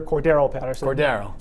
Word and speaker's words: Cordarrelle: Cordero. And Matthew Slater. Spelled like Darrelle Revis, but not pronounced like Darrelle Revis. Cordero, yes.